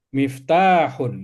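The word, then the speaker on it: مفتاح: Ini adalah miftahun gitu ya. Tanya panjang ya. Miftahun. Miftahun. Miftahun ya. Miftahun. H kecil ya. H kecil.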